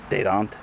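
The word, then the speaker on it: Dadant: I think it's a French name, so I'm pretty sure you're supposed to pronounce it Dedant.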